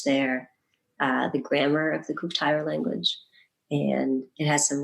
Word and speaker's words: Kuuk-Thaayorre: I'm really interested in this, how do you pronounce it? Kuuk-Thaayorre people. Kuuk-Thaayorre, yeah. The Kuuk-Thaayorre people.